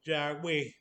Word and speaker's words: Yahweh: O sea, como no tiene vocales, pues, o sea, los judíos la pronuncian como Yahweh, que generalmente se traduce a Señor.